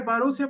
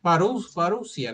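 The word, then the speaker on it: parusía: Parusia, no parusia, no es este. Ajá. Bueno, ahí está. Yo no soy muy bueno. Es paría. Se escribe parousía.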